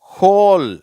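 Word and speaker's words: whole: அங்கே அந்த வ்ன்ற உச்சரிப்பே வராது. ஹூ. ஹோல்.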